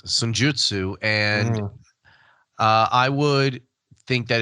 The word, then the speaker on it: Senjutsu: Foo Fighters' Medicine at Midnight or Iron Maiden's Senjutsu, or whatever the hell you pronounce, however the hell you pronounce it. Okay, so it's Senjutsu, and I would think that it's the Foo Fighters.